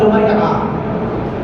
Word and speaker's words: লুমাইয়া: আইন যিনি উচ্চারণ হয় লুমাইয়া।